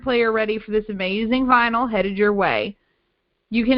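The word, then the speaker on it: Vnyl: So, that's spelled V N Y L. So, like vinyl without the I.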